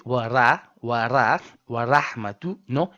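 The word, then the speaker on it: ورحمة: So, you say wa ra wa ra wa rahmatun and not wa rahmatun.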